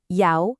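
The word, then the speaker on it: 幺: Third, when you're reading a phone number out loud, you've got to pronounce e as yao to be clear.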